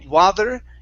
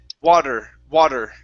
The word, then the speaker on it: water: the right idea but instead of saying water and pronouncing a Spanish D it's D D wad D water water WEA okay move your tongue back the D should feel more like an R like a Spanish R like if you were